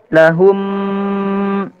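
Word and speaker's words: لَهُمْ: Cara membacanya adalah memasukkan mim mati ke dalam huruf mim disertai dengan gunnah dan juga dipanjangkan. Dan di sini dikatup mulutnya. Lahum.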